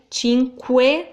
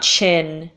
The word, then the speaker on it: cinque: qu he's a way Cinque like think of question yeah what the word question in English so we have that sound that's not an issue so Cinque not chin yes we don't change